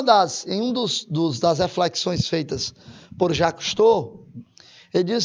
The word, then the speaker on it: Cousteau: E aí, como a pronúncia é Cousteau, né?